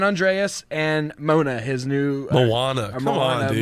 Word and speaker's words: Moana: San Andreas and Mona, his new Moana. Come Moana, on, dude. Mona, Are you kidding me?